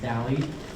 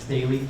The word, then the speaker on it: Daly: You can see my name, and it's pronounced Daly. It's not Daly, like John Daly, but without the alcoholism and golf ability.